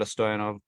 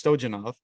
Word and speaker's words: Stojanov: My name is Stoov. Uh funnily enough, you actually pronounced the uh last name perfectly because again in the United States everybody says that it's Stojenov.